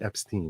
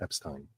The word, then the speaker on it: Epstein: Anyone who has an E-I-N at the end of their name, it was once pronounced E. Now, they might decide to change it. Like it was Jeffrey Epstein, not Epstein. Jeffrey Epstein's parents said Epstein.